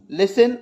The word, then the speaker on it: listen: लिसन एल आई एस टी ई एन जहां पर T mute है इसकी स्पेलिंग स्ट्रक्चर में।